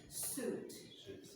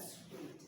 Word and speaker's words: suit: And traje is pronounced suit. Suit, and not sweet.